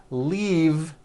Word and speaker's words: leave: This last word, leave, is very different from the word leaf, like from a tree, which has an unvoiced F. The word is leave with a voiced V.